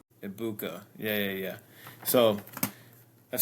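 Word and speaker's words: Egbuka: Ibuka.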